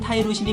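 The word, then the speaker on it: tyrosine: 영어 발음은 타이로신이 맞지만 티로신이라고 부를 거예요.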